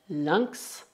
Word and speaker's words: lynx: Enquanto nas palavras un lynx e un sphinx, o X é pronunciado X, X.